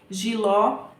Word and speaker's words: jiló: que é o fé jiló é o ló e guaraná é o